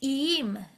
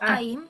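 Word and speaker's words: איים: Chalom, yeah, you said it right, but B, you need to say iim, lo aim, iim.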